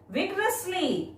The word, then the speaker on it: vigorously: Vigorously, meaning full of energy. When you pronounce vigorously, break into 4 syllables. V-I-G-O-R-U-S-L-Y. When pronouncing, stress on the first syllable V-I-G. Vigorously.